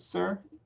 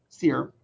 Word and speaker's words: Sear: Is it Sir? Dear. Sear.